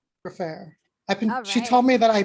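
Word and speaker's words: Gfrörer: you film her last name um g-f-r-o-r-e-r for fair she told me that i pronounced her name better than anyone else oh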